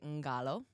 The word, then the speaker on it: Qalo: Yeah, it's actually Ngalo. And because it is. It's Fijian.